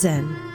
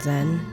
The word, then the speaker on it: Zen: Your name is Zen. It's pronounced more like Jen than Zen, but most people have